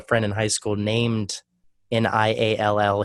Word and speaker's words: Niall: I actually used to have a friend in high school named Niall. He said it was Neil, but then this guy Niall Horan showed up and fucked that up for everybody.